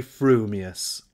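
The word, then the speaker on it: frumious: your mouth and speak if your thoughts incline ever so little towards fuming you will say fuming furious if they turn by even a hair's breath towards furious you will say furious fuming but if you have that rarest of gifts a perfectly balanced mind you will say frumius supposing that when pistol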